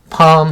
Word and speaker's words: palm: palm 하면 종려나무. L이 묵음입니다. 소리가 나지 않아요. 팔름 하시면 안 돼요. palm, 종려나무. stand 하면 서다.